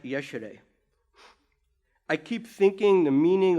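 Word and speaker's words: ieșire: figure out what these signs meant so it's pronounced yesterday I keep thinking the meaning of the word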